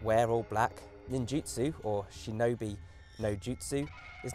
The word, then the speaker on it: Shinobi: jumping higher in fact they probably weren't even called ninjas until recently with Shinobi being the more accurate pronunciation of the Ki but before you get